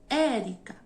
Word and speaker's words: Érica: exemplo meu nome Érica Qual é a sílaba tônica de Érica o Érica Então isso que significa